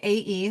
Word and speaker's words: AE: I go by AE, like AEIOU, because has a hyphen and too many syllables, and nobody has time for that in this modern world.